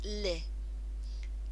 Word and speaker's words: les: on these two first they're pronounced ly not less but lik can you remember why they are pronounced lit that's right cuz in French we don't always need to pronounce the last letter soompi sometimes we've said that we can be a bit lazy in French haven't we and you don't need to pronounce that last letter so let tells us